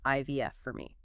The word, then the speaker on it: iVF4me: That's pronounced IVF for me.